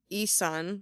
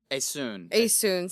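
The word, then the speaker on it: Essun: I mean, so a woman, Isun, right? Asun, sorry.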